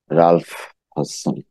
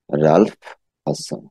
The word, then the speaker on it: Ralph Hodgson: রালফ হডসন। উচ্চারণটা একেবারে ঠিক করে নেন, রালফ হডসন।